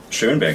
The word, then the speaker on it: Schoenberg: and Strauss Jr., and even in a modern-day capacity, tell me how you say his name, Schoenberg? Schoenberg, yes. Schoenberg, and Joe Zawinul.